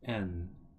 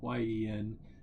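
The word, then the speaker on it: 円: n e n n it's not Yen it's just n sen n instead of sen Yen it's sen n um but of course uh outside of Japan you just pronounce Yen instead of n but the kanji itself whenever you like listen to Japanese people whenever they like uh convenient stories and stuff they'll say n instead of yen so slight difference but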